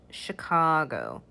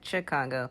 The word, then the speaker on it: Chicago: um and the largest city in illinois is chicago i did hear some of my students incorrectly pronounce it chicago but it's actually a sh chicago chicago indiana